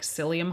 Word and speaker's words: psyllium: If you've ever taken a fiber supplement like psyllium husk, which is spelled with a P, by the way, it kind of turns into like a jelly.